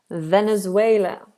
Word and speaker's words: Venezuela: Venezuela. Venezuela. Venezuela. Venezuela. Make sure with these V's, we've got that bottom lip, top teeth, just like we covered today in our pronunciation practice.